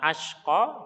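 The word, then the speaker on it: الأشقى: Maka hati-hati dalam pengucapan atau dalam makhraj, ya. Pertama ashqa, kemudian yang kedua atqa.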